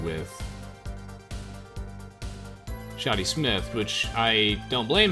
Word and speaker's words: Shadi: to anyone the restaurant the man named shadi Smith or pronounced differently shady Smith is a little shady so that alone he